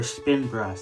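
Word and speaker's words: Spinbrush: Sprint brush is or spin brush. That's how you say it.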